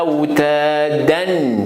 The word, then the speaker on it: أوتادا: Wal jibala awtadan. C'est comme ça on écrit, mais on prononce comment? Wal jibala awtada. Wal jibala awtada. Awtada.